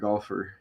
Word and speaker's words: Gauff: telling me about that golfer. The opponent's name is Goff. Coco Golf, pronounced golf.